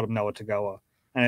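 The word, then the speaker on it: Togiai: even say the letters in it but it's pronounced tangi-eye but we always called him noah tagoa and it's kind of stuck and do you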